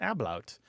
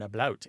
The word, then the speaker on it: ablaut: The second kind is where there's something called an ablaut, or an ablaut, A-B-L-A-U-T.